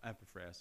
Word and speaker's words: Epaphras: Yes, Epaphras. Okay, that's a good one. Or Epaphras. No, Epaphras, I prefer that.